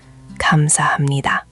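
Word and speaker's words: 감사합니다: Reading connected text where multiple pronunciation rules work together. Here's a phrase you'd see on a sign. Kamsahamnida.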